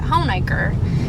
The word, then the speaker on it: Honaker: ones yeah yeah so that's why we pronounce it home acre and i didn't even